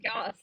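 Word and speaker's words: Jos: I think it's pronounced Yos or Yos.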